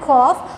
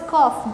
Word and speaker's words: cough: Here the word is cough, GH. GH it pronounces F. Cough, F, cough, cough like that, it's a pronunciation. So here GH represents the sound as F. It is pronounced as F.